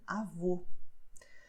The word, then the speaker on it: avô: The meaning is different and the way of pronouncing is also different, because avó, I'm opening my mouth. Avô, I am closing it.